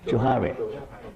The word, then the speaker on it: Johari: How to pronounce Johari? Johari.